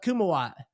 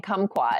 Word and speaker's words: Kumawat: were planning this out we couldn't say it right we kept saying kumquat and you're actually saying it correct now sorry my man kuma